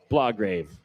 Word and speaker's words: Blograve: Yeah, Blograve. It's like Lawgrave, but I was like, So there's a B.